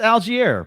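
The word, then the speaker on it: Allgeier: this is not the podcast to get your pronunciation straight which is dwight's supposed to delete this it's algier but you know hey we how long did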